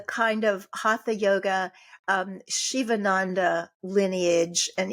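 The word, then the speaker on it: Sivananda: of hata yoga um Shivaandanda lineage and even though it's pronounced Shiva it's spelled s i va n a n da lineage uh integral yoga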